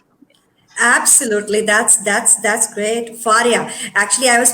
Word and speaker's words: Fariha: Absolutely, that's great, Faria. Actually, I was pronouncing your name absolutely wrong, but this is Faria, right? Faria Imran, right? Yes, Fariha Imran.